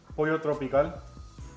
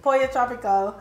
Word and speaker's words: Pollo Tropical: Pollo tropical. That's how you say it. Pollo tropical.